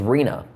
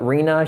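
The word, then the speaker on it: Rina: It was Reena. Just R I N A. Kind of like Christina, but Reena, she said her family wanted to do something different.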